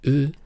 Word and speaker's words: う: 蓄，所以乌这个发音嘴巴不用撅起来，平平的发声，不是乌是日，像这样即可。